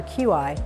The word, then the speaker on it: qi: One of the most important concepts is qi, and you can see it spelled C-H-I or Q-I, and it's pronounced qi.